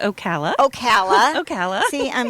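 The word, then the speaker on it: Ocala: find her as simply stitching Okala am I pronouncing that even right okay it's Okala Okala Okala see I'm not a Floridian so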